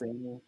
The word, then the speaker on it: Mancini: And it proved that Don Mancini, how do you pronounce his name? Don Mancini? I think it's Mancini.